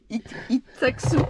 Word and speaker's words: Itxassou: Itaksu. Ah oui, tu le prononces super bien.